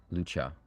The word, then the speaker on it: Lucia: Lucha. I guess it's spelled Lucia, but it's pronounced Lucha. Japanese, you know, so.